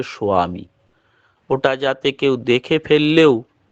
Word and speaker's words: স্বামী: স্বামী উচ্চারণ হবে না যখন আমরা দীক্ষাপত্রে লেখা থাকে স্বামী এই স্বামী কিন্তু উচ্চারণ হয় না প্রকৃত উচ্চারণ হচ্ছে সোয়ামী ওটা যাতে কেউ দেখে